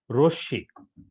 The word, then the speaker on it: রশ্মি: রশ্মি এ শব্দটা গুরুত্বপূর্ণ অনেকে এটা রশ্নি বলে কিন্তু সঠিক উচ্চারণ হবে কি রশ্মি তোমরা এগুলো ভালো করে